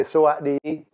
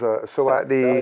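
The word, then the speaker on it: สวัสดี: You say Sawatdi, which is Sawatdi. Saudi. And then, of course, depends on this. The gender, right? But since we're everybody, we'll just do it like that. Sawatdi.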